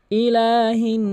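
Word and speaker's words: إِلٰهِ: আপনি দ্রুত পড়বেন এবং লামকে কিন্তু এক আলিফ টানবেন কারণ এটি খারা জবর আর খারা জবর খারাজের উল্টো পেশ যেখানেই আসুক না কেন আপনি অবশ্যই এক আলিফ টেনে পড়বেন ইলাহি এইযে হাদিয়া নুনকে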